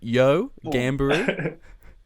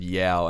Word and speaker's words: Yeo: week on the show i butchered it i said yeah and adam and brad were like it's not yeah oh no that's yo is definitely correct yeah i think it's